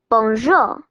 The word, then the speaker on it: bonjour: like this Belle Bon hello in French you say it like this bonjour gorgeous beautiful perplexed mixed